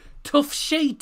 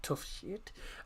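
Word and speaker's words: Toughsheet: Now, kick-off coming in just under 10 minutes' time at the Tough Sheet Stadium. And yes, I did pronounce that correctly. Not Tough Shit. Tough Sheet Community Stadium.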